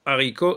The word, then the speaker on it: haricot: dit tout à l'heure un haricot parce que haricot est un est un mot est un mot qui commence par un achaspiré donc je n'entoure pas et